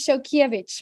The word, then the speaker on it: Szolkeiwicz: I like it um but my surname is show kievich because I'm married for love and that is